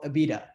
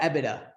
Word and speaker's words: EBITDA: will be something what we call Abita so ebitda is you know pronounced both ways so um everything before